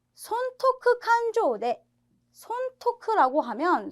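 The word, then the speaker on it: 勘定: 쇼크의 테이 아아 그래서 발음 하실 때 칸 테이라 발음 하시기 쉬운데 여기에서는 칸 조라고 발음하는 거 주의하세요 그래서 칸조 뜻이 뭐냐면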